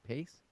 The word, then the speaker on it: Paice: That's how you say it, right? Pace. I believe so. Oddly named, Paice, I think.